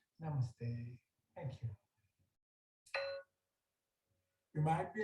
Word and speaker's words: namaste: welcomes you with a namushtay and you hang back after class to correct the pronunciation hi excuse me it's namaste thank you you might